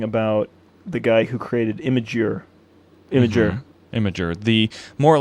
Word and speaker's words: Imgur: does he pronounce it it's pronounced like i-m-a-g-e-r how how would you pronounce that image imager uh past